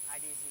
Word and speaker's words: Adezy: C'est ça, tu as bien Adési prononcé.